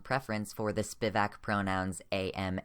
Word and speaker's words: em: a very strong preference for the Spivak pronouns am, air, or some people say it's pronounced ear, but I don't like that.